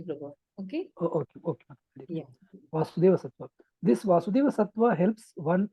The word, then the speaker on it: Sattva: Otherwise, it is Sattva only, Prabhu. Okay? okay. Yeah. Vasudeva Sattva.